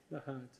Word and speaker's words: Nahant: He grew up on, how do you pronounce it, John? Nahant.